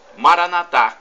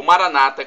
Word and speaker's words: Maranatá: E Maranatá, como dizemos nós católicos, ou Maranata, como dizem nossos irmãos separados, os evangélicos ou protestantes. Não importa a pronúncia, somos todos irmãos e cristãos, e o significado é o mesmo.